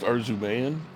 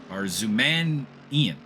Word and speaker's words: Arzumanian: It's pronounced Arzumayan? Arzumanian is how it was. There's an extra AN that I never realized was there when I was told his name originally.